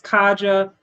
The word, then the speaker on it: Katja: My name is Kaja. My channel is just simply sports with Kaja and T is silent.